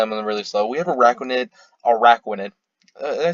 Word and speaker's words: Araquanid: We have Araquanid.